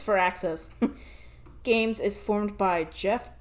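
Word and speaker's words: Firaxis: how to say it, but I think it's Fur Access.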